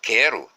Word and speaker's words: quero: Mas não contém ditongo pela razão já exposta, porque o U aqui não é pronunciado.